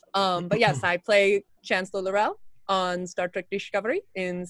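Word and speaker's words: L'Rell: that we have but yes I play Chancellor Darrell on Star Trek discovery in seasons 1 and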